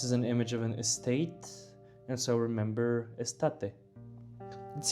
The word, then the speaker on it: estate: I added a photo that reminds me of how the word is pronounced cuz summer is estate and it's just like estate but for some reason it's difficult for me to come up with this association.